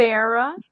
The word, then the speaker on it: Nefera: Nefera. It's Nefera. like it's like Nefertiti, but Nefera.